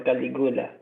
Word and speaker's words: Caligula: The Emperor Caligula. Calcutta is on my mind. Caligula, sorry, sir. Yeah, okay. Yeah. I would pronounce that Caligula, but Caligula.